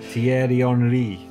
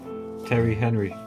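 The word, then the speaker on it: Thierry Henry: Brazil but that was French yeah he's yeah pronunciation and spell Terry Henry that was it I tier onri Terry Henry who else is on that list D you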